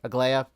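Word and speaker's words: Aglaea: Is that how you pronounce? Yeah, Aglaya. That's how you pronounce her name. Aglaya.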